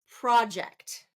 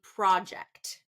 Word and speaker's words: project: present present how about project okay first syllable stress for a noun second syllable stress for a verb this is an exciting project he can project his